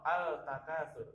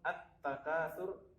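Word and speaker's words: التَّكَاثُر: Jadi tidak membaca al-nasi atau al-takatsur, tapi langsung at-takatsur dan an-nasi.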